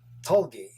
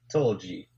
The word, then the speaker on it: tulgey: word out loud so i just always thought that the pronunciation was tolgi instead of tulji tulji so now that